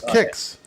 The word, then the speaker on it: Kix: was just for design it's pronounce kicks kicks never heard of it kicks kicks yeah kicks remember the Cal